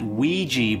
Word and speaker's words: Ouija: I'm gonna pronounce it everybody calls it Ouija board which never made sense to me it's spelled ogia so it's a silent o silent you e at the end it's just an entirely